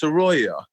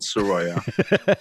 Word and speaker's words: Saroea: pronounce your last name it's actually pronounced saroya which is kind of weird because it's not spelled sororia but it but it is the it is actually pronounced arroyo yeah well norwegian last